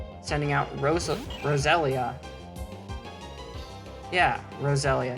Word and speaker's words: Roselia: out rosa roselia yeah rosalia not rosalina i think i pronounce it rosalina sometimes like the mario character but this is rosalia so i think two